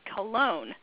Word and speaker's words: Cologne: Of course, there's Mary, and her last name, from what I asked her, is spelled or pronounced Cologne.